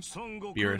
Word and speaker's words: Beerus: Beerus. Yeah, Beerus.